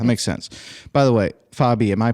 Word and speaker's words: Fabi: By the way, Fabi, am I pronouncing that properly?